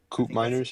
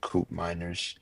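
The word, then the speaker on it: Koopmeiners: a cers as well CP miners yes C miners sorry that's how pronounce the name yes coup miners he um he was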